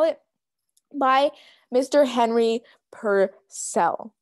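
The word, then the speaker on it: Purcell: it by mr henry per cell per chell per cell per cell that's it okay so this is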